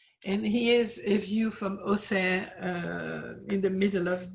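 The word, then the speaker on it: Auxerre: the altar moving to ose so the we don't pronounce the x in it's in burgundy the x is not pronounced x but and here's a view from osa uh in the middle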